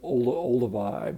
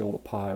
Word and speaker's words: Olduvai: a lot of people call it sort of Olduvai but it's actually all the pie which was a mispronunciation of the way it's written you know